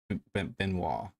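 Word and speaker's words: Benoît: I think that's how you pronounce that. Benoit.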